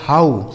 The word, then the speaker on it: how: तो यहां पर ओ डब्ल्यू का उच्चारण आऊ होगा। इसको हमने क्या पढ़ा था? Slow. S एल ओ W slow. ठीक है? यहां ओ डब्ल्यू का उच्चारण क्या होगा? एच से हो गया दोस्तों हा। इस ओ डब्ल्यू का उच्चारण क्या हो जाएगा? आऊ। इसे पढ़ा जाएगा हाउ। एच ओ डब्ल्यू इसे पढ़ा जाएगा दोस्तों हाउ।